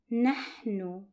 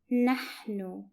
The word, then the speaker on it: نحن: The last pronoun for this lesson is we are, and it's pronounced as nahnu, nahnu, and it's written like this.